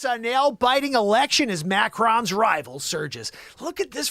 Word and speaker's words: Macron: weezy mcgee no it's not macro like when you take photography it's macron macron what do we say